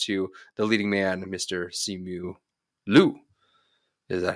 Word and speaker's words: Simu Liu: Simu Liu. Is that how you pronounce it, Cam? Simu Liu, but yes.